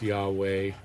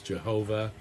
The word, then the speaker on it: Yahweh: name of God uh typically now pronounced Yahweh. A more old school pronunciation of course was Jehovah.